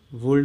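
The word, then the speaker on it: would: वुड सही से लिखना, वुड इसमें एल साइलेंट होता है, वुड नहीं है, ये वुड है, ठीक है।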